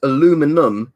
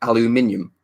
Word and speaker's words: aluminium: actually spelled differently Richard as well because it's aluminum in American it's actually spouts aluminum but in British English is a look Alan sorry aluminium or aluminium so sometimes you'll have Americans say